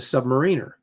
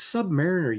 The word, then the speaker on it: Submariner: I pronounced him the Submariner. That's what I said as a kid growing up, until I was ruthlessly mocked by the neighborhood kids who also collected, saying it's Submariner, you dummy.